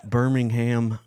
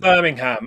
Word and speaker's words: Birmingham: program John McDonald from Birmingham I'm assuming it's not Birmingham Andrew it's Birmingham Birmingham so that's where